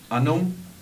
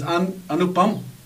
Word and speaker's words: अनुपम: कि ये जो फिल्म बनाई गई Kashmir files, अनुम पंखेर, am I right in pronouncing? जी, I don't know. Even I don't know. अच्छा, you don't know. जी. You pronounce अनुम पंखेर. It is अनुपम.